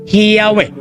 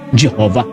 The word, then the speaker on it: Yahweh: the name was pronounced, yung YHWH ay prino-pronounce po ito na Yahweh at hindi Jehovah.